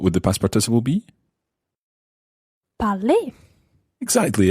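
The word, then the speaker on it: parlé: the past participle be parley exactly it sounds the same as the infinitively but it's spelled EQ to the end so to say I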